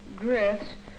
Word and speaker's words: growths: The heavy, tangled undersea growths often... That's a long O, Mike. How do you pronounce O-W? O? Yes. Growths. That's right.